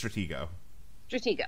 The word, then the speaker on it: Stratego: Stratego is a Stratego a Stratego i it's Stratego okay first some people pronounce the G is a J for some